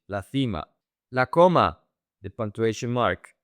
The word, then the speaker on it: cima: In Spain, that C is pronounced F, TH. La cima.